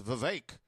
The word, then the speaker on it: Vivek: And this person wants Vivek. Rhymes with snake.